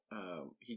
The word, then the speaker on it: Aech: So in the book, it's spelled AECH, but it's just pronounced as H. Yeah, it's kind of hard to remember. Just say H like an H.